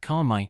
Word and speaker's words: คนใหม่: คนใหม่ Pronounce it like konmai, easy as pie.